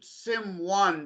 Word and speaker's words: S1m0ne: That's Simone, yeah. Or you can also pronounce it Sim1 because it's written S1M0NE because it's about code.